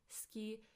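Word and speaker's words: 好き: 好き. It's as if the U, the U, disappears.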